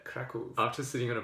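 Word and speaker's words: Kraków: this week I was in Cracow Poland or how they pronounce it there crackle I'm just sitting on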